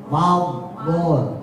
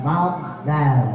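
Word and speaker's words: فضل: Fadol enggak berubah bibirnya. Fadol bukan fadal bukan ya.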